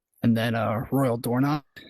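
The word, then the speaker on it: Dornoch: And then, uh, Royal Doorn, it's coming. Oh, nice. That's how you pronounce it.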